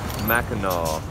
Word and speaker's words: Mackinac: gateway to Mackinac Island you pronounce it Mackinac which I didn't always know it's not my favorite